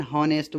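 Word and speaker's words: honest: कुछ शब्द ऐसे होते हैं जो कॉन्सोनेंट से शुरू होते हैं, लेकिन उसमें कॉन्सोनेंट्स साइलेंट रहता है। ऐसे शब्दों के साथ एन का प्रयोग होता है। जैसे an hour, N हॉनेस्ट बॉय।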